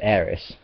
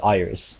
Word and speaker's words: aeris: So her name would be written as Aerisu, and that got mistranslated as Aeris, which is also a Latin word, incidentally, but that would have been pronounced Iris, not Aeris, which is a completely different name entirely.